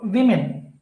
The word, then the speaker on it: women: So women. So there are two syllables.